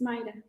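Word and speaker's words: Mayra: your name May it's pronounced m-a-y here is pronounced my yeah yeah but it's Mida so yeah her full name is m-a-y-r-a back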